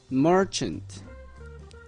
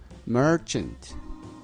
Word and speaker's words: merchant: 발음 어떻게 한다고요? Merchant. 그 한글 보면 뭐 하고 뒤에 R이거든요. Merchant.